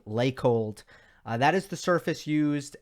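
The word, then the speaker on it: Laykold: to a surface called lake hold i'm i might be mispronouncing it i haven't heard it pronounced i've only read it l-a-y-k-o-l-d like cold lake hold that is the surface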